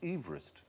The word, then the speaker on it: Everest: No, we shouldn't call it Mount Everest because he didn't pronounce his name Everest. He pronounced it Everest.